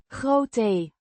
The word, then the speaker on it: grote: Grote, Means big or large, pronounced grote. with the O, sounding like the o in go and the e as a short e.